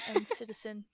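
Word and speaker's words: NCTzen: So, You're an N citizen. I think that's how you say it.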